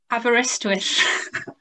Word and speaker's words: Aberystwyth: management at, oh, I don't think I can pronounce this, Lucy. You're going to have to say the name of the university. Aberystwyth.